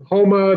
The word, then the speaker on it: Houma: A lot of people say Houma because of Houston, but it's spelled Houma, correct. And Houma, just like you want to go Houma again.